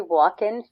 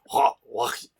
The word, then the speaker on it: Joaquin: Joaquin. What is it? Joaquin? You have to almost spit.